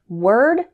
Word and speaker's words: word: a similar error with word work worse and world the letter O in these words isn't pronounced like Oh instead wor sounds like were let's practice word work